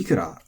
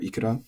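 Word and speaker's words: いくら: And then ikura, again, as a question word, it should be atamadaka. It is, but it's also acceptable to be pronounced flat, as you can see here. So, actually, you're relatively free here. You can say ikura or ikura, and it's fine.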